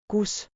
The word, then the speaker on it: kus: Kus like coos, but short.